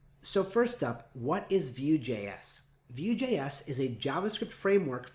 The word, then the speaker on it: Vue: So first up, what is VueJS? VueJS is a JavaScript framework for building reactive front-end interfaces. It's pronounced Vue, like mountain view or ocean view.